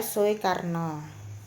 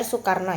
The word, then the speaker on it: Soekarno: Supomo kemudian yang terakhir adalah Ir suikarno Tapi bacanya Ir Soekarno ya Nomor 27 Sebutkan